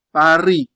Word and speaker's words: Paris: Esempio, Paris. Non si pronuncia il S. Paris, Paris, Paris, Paris.